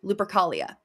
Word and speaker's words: Lupercalia: a Roman celebration called Lupercalia. Oh. Or Lupercalia, or Lupercal, or Lupercal, depending on pronunciation and whatever, because everybody pronounces things differently, and I don't speak dead languages.